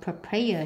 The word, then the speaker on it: prepare: Selection nhấn âm 2, vegetable nhấn âm 1, display nhấn âm 2, spinach nhấn âm 1, cucumber nhấn âm 1, prepare nhấn âm 2, pineapple nhấn âm 1,